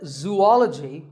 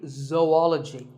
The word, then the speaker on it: zoology: do you say it if you said zoology it's actually wrong that is a very common mispronunciation this is actually zoology Zoe and ology zoology number 42 is develop